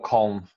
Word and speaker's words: Köln: English, it's pronounced Cologne. Germans pronounce Clon or Coln or whatever it is, something like that.